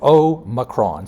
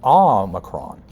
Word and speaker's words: Omicron: They're talking about, says one Merriam-Webster uses O with the accent on the Omicron. So Omicron. That sounds good. It sounds like a toy you'd order for Christmas. The new. Or in the U.S., less commoner, Omicron.